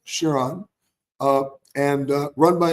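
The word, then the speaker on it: Çırağan: it's spelled c i r h n but pronounced shiron uh and uh run by an amazing legendary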